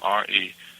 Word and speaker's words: restaurante: So RESTAURANTE. So restaurante. So both, there's an R at the front of the word and an R towards the end, and they're both pronounced with that H.